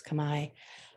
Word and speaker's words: Khmer: Some people pronounce it Khmer. I believe it's Khmer.